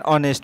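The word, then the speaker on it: honest: এরপর আমরা 6 নম্বরের প্রশ্ন হবে, হি ইজ অ্যান অনেস্ট ম্যান। এ অ্যান দি বসাতে হবে, তাই অনেস্ট লিখতে গেলে এইচ থাকা সত্ত্বেও উচ্চারণ ভায়োলের মতো।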